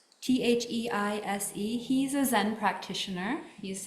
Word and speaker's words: Theise: Thies? Theise.